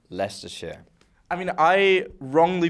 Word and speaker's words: Leicestershire: there somewhere it's a lie it's Esther Shire pronounced Lester share I mean I wrongly pronounced Lester when I